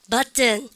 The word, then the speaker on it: button: 여러분들 영국 애들은 button 트 발음 다 나옵니다. 근데 영국 애들은 발음하지만 미국 애들은 여러분들 발음하지 않는다.